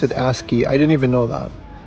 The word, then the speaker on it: ASCII: This is the ASCII Pad Pro, which apparently you pronounce it ASCII.